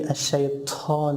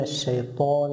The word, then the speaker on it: الشيطان: The second mistake they make is that they make whispering when they pronounce ta and they say الشيطان الرجيم, which is not correct because ta is not whispered. We say من الشيطان الرجيم.